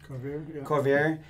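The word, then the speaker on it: Couvreur: I can't pronounce that. How do you say it? Corvier.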